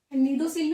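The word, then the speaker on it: cnidocil: नीडोसील में सी साइलेंट रहेगा, नीडोसील।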